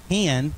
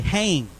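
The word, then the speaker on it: חֵן: the H, but you think it would be pronounced hen, like we'd say in the South, right? But it's actually hang.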